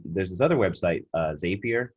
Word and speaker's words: Zapier: this other website uh zapier spelled like rapier with a z it's like the same